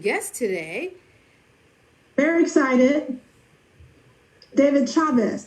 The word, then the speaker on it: Chavez: David Chavez. That's a hard C. Yes. Not a soft C.